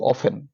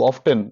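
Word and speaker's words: often: হবে কতবার কতবার ইংরেজি হাউ অফেন হাউ অফটেন বা অফেন দুটো উচ্চারণ ঠিক আচ্ছা জাফরিন সুলতানা ইকরা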